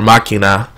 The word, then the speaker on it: Machina: And that kind of became the catchphrase, and I guess you could say the Deus Ex Machina, or Machina, rather. That's the proper way to say it.